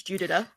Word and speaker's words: Judita: Like, I didn't know how to pronounce Judita's name, so now I know that it's Judita.